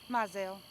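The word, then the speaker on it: Mizell: okay what's your Debbie what's your last name myel spell it m i z e l l okay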